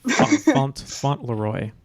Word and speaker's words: Fauntleroy: any of us could have ever thought yeah fontleroy or in duck and then the fourth question